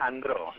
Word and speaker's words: Andreau: Sí, se pronuncia Andró. Andró. E-A-U es O, así que sería Andró.